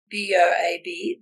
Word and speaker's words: boab: So the way it's spelled on my book, B-O-A-B, that's the Australian way. Boab. Mm-hmm. The Boab. So there, you can call it Boabab or Boab.